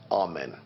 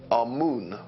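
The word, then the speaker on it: Amun: deities was our men now our men is the pronunciation that the Hebrews give it and some scholars agree to use that pronunciation our moon is the pronunciation given to it by one of the old European scholars Plutarch and the language of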